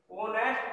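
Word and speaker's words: honest: देखिए यहां पर एन होनेस्ट पर्सन है, एच आपका साइलेंट है, लेकिन जब होनेस्ट को आप बोलते हैं तो जब आप होनेस्ट को बोलते हैं तो होनेस्ट में क्या बोला जाता है? इस चीज को देखिए। ऑनेस्ट जब बोलते हैं तो आपका साउंड क्या आती है?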